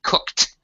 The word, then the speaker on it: cooked: right good job uh be careful of pronunciation salvator of cooked cooked cooked y cooked one syllable don't add an EXT syllable for the past tense uh for the Ed ending okay sound right T